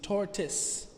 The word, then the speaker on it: tortoise: from kung fu panda the second o in tortoise is silent so it reads tortus repeat after me tortoise